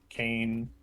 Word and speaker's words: Kain: that is also a cane from somewhere it's pronounced kane not kane got it i love those i